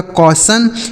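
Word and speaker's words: caution: टी आई ओ एन इसे सी ए यू से दोस्तों हो गया को टी आई ओ एन का उच्चारण हो गया सन। यह लिखा गया आपका कौसन।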